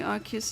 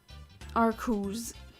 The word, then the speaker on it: Arceus: Am I the only one who pronounces the name like Arceus? Arceus? It is really confusing as of what the correct pronunciation is, but the latest Pokemon media say Arceus. And I also always said Arceus. Like in Pokemon Battle Revolution it says Arceus.